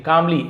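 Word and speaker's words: calmly: अब वो जो राजगुरु थे कामली एल साइलेंट होता है। कामली नहीं बोलेंगे।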